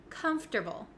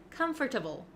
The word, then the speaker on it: comfortable: a little bit tricky there are some extra letters in there that we don't really pronounce and we switch around